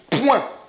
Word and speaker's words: point: de la même façon, comme point et point. Lorsqu'on dit point, allons à la ligne, c'est bien point avec T.